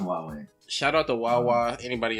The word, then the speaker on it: Huawei: Yeah, no, it's pronounced Huawei. It looks Alright. like Huawei or something like that. It looks weird, but it's pronounced Huawei.